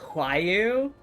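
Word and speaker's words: Roaille: character whose name is spelled r-o-a-i-l-l-e and it's pronounced why you and so I just had to be confused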